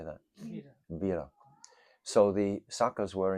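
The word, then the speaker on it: vīra: Veera. V-I-R-A. How do you say that? Veera.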